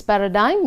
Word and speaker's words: paradigm: So to make this model, see the word paradigm, it's pronounced as paradigm, meaning model.